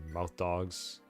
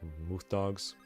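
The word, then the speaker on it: Mauthe Doog: it's like gargoyles and mouth dogs. I think officially you have to pronounce it Mooth Dogs.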